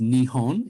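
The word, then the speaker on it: 日本: kanji characters represent japan it's pronounced nihon in japanese and it means the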